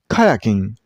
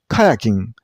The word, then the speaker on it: kayaking: Kayaking. Kayaking. Now what about it? This board name has only two syllables.